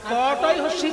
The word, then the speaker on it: কোটি: মানে 100 লক্ষ আর ক টয় কোটি মানে কোমল বাঙালিদের ক্ষেত্রে উচ্চারণটা একই হয় বানানটা আলাদা ক টয় হসিটাও আমরা কোটি বলি আর কয়কার টয় হস্টাও